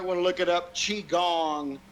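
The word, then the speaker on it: qigong: to look it up Chong starts with a Q Qi g n g chong chong actually his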